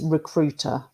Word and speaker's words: recruiter: some of these words for example recruiter you don't hear the letter I so it's recruiter okay the point machinist